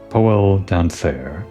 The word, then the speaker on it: Poel Donsair: It's spelled funny, so you don't recognize it at first, but it's supposed to be poel dancer. If you say it faster, then maybe you'll get the pun.